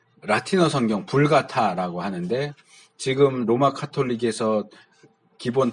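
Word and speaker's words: Vulgata: 하나 있고 하는데 이제 이 불가타라고 하는 이제 벌게이트라고 많이 말하긴 해요. 이제 영어식으로 읽어서 벌게이트라고 하는데 이 라틴어 이름으로 하면 불가타가 발음이 맞아요.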